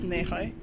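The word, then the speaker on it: Nehaj: hi we are at fortress nehai that's how you say it in english where um croatian people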